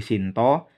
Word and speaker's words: Sinta: istri Rama itu Sita sedangkan dalam jawab baru pengucapannya diseragamkan Shinta menjadi Shinto istri ramai itu Sita menjadi Shinto juga ya Jadi kalau Jawa Baru nama wuku dan nama apa top istri ramai itu sama-sama disebut Shinto kalau Jawa kuno beda